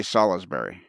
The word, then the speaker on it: Salisbury: Do they say Salisbury or do they say Salisbury? Salisbury. Yeah. Yeah, Salisbury. There's that extra. And not Salisbury. Yeah, there's that extra syllable in there.